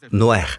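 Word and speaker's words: נח: Et le nom de Noé est Noer. Il le prononce Noer. Tout le monde dit Noer.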